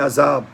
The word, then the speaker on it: عذاب: ویسے تو لفظوں کا فرق ہوتا ہے، جیسے عذاب ہے نا تو زیا زال ہے، اور ہم عام طور پر زے پڑھتے ہیں، عذاب نہیں، عذاب. عذاب یہ یہ تو کسی